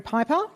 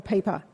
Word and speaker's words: Piper: I'm going to guess Piper or Peeper. Piper. No, no, no. What's the correct pronunciation?